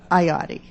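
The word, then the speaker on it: Iotti: Okay, how do you pronounce it? Ioti.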